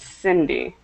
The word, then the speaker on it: Cindy: but not e Cy if the letter is an i or an e then it sounds like an S so because the second letter is an i it's Cindy and then if you